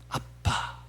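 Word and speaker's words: אבא: 아버지가 아람어머로 어떻게 발음되는 거? 아빠입니다. 아빠.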